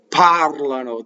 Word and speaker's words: parlano: So whenever the verb is the tense of they do something, right? The accent is on the second to last syllable. Vivono. I mean, it's not the second to last. It's the antepenultimate, the one before the second to last. Vivono. Parlano. They speak, right?